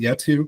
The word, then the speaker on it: Yetu: Is it Yetu, Christopher, I think? Perfectly pronounced.